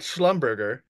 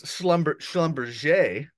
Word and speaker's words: Schlumberger: It's not Schlumberger, it's Schlumberger.